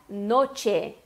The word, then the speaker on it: noche: Tu tens que pronunciar noche. Noche. O que eu quero tratar aqui é que o CH, que tem o som de ch, como se fosse o nosso TCH em tchau do português, e cuidar para não falar noche.